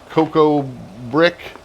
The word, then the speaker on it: Cocobriq: This one's called Cocobriq, spelt with a Q like briquettes.